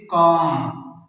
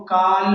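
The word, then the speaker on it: calm: जैसे काम काम अब यहां पर एम से पहले एल आया हुआ है तो ये एल साइलेंट यानी खामोश है इसको काल नहीं पढ़ेंगे बल्कि इसको पढ़ेंगे काम का माना है पुरसकून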